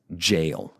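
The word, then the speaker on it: gaol: It's just jail. It's just another spelling.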